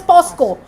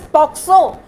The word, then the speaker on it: POCSO: They often pronounce it as POSCO. Not many people think of it as POCSO.